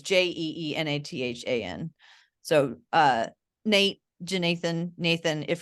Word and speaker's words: Jeenathan: Because it wasn't clear to me that it was like the J was kind of like a separate syllable from the Nathan.